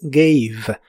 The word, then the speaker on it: gave: En el pasado es gave. La a de esta palabra se pronuncia como e y la e del final sigue sin pronunciarse gave. Gave.